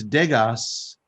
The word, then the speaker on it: Degas: Juan Dega, it's Degas, but the S is silent.